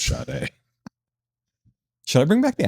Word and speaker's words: Sade: That her name was spelled and it sounds like, why is this pronounced like shade? Is it French? It's not pronounced like shade, it's pronounced Sade.